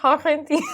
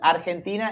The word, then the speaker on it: Argentina: But it's actually Argentina. Argentina, yes. You pronounce it in Spanish, you pronounce Argentina, in English, Argentina.